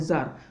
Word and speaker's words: tsar: এই গল্পে একটা চরিত্র আমরা পাবো, যে চরিত্রটির নাম এখানে দেওয়া হয়নি, কিন্তু সেই চরিত্রটাকে এখানে জার বলে উল্লেখ করা হয়েছে। TSAR উচ্চারণটা হবে জার।